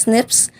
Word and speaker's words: SNPs: differences in our dna single nucleotide polymorphisms or snps pronounced as snips are the most common